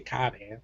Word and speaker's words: Cobham: I'm gonna say Cobham. That's how I'm pronouncing phonetically.